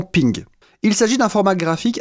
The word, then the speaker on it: PNG: portable network graphics et apparemment ça se prononce normalement ping il s'agit d'un format